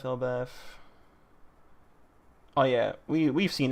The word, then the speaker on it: Elbaf: Finally, Elbaf. Elbaf. Oh, yeah. We We've seen this before. I think the proper way to say it is with an F because Elbaf backwards is fable and you say fable with an F.